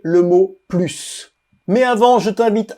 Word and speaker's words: plus: français est un plus on le prononce plus sans le S quand il est utilisé